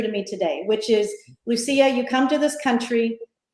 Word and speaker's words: Lucia: that you always gotta run down who is Lucia how do you say how you say your